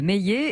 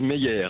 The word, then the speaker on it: Meier: Eh bien, on en parle ce matin avec Meillet. Est-ce que je prononce bien ? Pas tout à fait, c'est Meyer. Meyer.